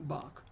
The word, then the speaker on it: Bach: Yokohama and Zurich Zurich like many places or many names proper names that finish with ch they are pronounced with a cut us in architect yes Zurich buck Johann Sebastian Bach what else there was